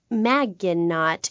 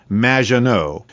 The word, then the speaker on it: Maginot: mispronounced my name it's madge which rhymes with badge uh as in duh and no as in more than you maginot anyway thank you for